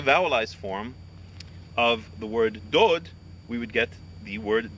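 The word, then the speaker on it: דוד: The letter is spelled Dalid, Wow, Dalid, but we pronounce it Dod.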